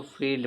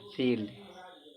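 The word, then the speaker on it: field: यहां कह रहा है कि जब किसी वर्ड के बीच में आई ई आए तो आई ई का उच्चारण बड़ी ई होता है। जैसे देखो इसको फील्ड पढ़ा जाएगा। फील्ड इसको फील्ड पढ़ेंगे।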